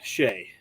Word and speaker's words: Seaghdha: And then the Honorable Lord Shay, because that's how you actually pronounce that very long Irish name.